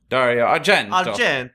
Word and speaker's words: Argento: Dario Argento is the director and No, co-writer. you didn't say it right. Dario Argento.